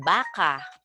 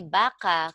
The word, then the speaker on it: baka: want to say baka, Baka. okay, this is maragsa, baka, or Yeah. mabilis, baka. There's no, not baka, no, Mhm. baka. Okay? That is mabilis, but this means maybe.